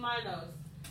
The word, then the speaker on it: Minos: They always pronounce the I. So King Minos.